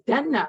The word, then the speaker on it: Denna: She does not say my name right. My name is Denna. Like she's saying it with her accent, the way she's a little kid.